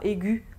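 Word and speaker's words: aiguë: C'est le cas par exemple pour aigu au masculin, au féminin on mettra aigu avec un tréma sur le E qui ne se prononcera pas.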